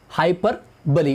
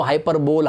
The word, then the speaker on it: hyperbole: Hyperbole, it is the correct pronunciation of this figure of speech, hyperbole. कुछ लोग इसको हाइपरबोल, हाइपरबोली, पता नहीं क्या क्या कहते हैं, लेकिन इसका जो करेक्ट प्रोनाउंसिएशन है हाइपरबोली.